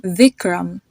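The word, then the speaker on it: Vikram: it sound to it so you can see this in the name vicam the i v i k r a m the first I has a it sound to it another example is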